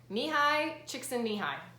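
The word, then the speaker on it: Mihaly Csikszentmihalyi: that I recommend is called finding flow by me hi chick sandy hi the reason I know how to say this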